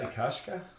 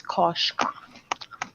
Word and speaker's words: Koshka: No, but I mean, if you didn't say anything, if I didn't get any feedback from, would you say Kashka? It's Koshka. Koshka.